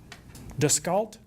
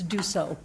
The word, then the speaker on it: Dussault: Descalt? Even close? Yeah, you're close. Spell it for Jennifer, please. Actually, it's Dussault.